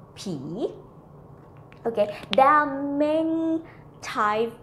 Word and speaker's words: ผี: Actually, this word, ผีYou might confuse with similar to pronounce with the word P that means someone older than you, okay? This one falling tone is P and the ghost is rising tone P.